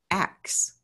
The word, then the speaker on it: ask: i discovered was that way back in the 1700s to pronounce ask correctly was to say acts that's the correct pronunciation of it so when enslaved africans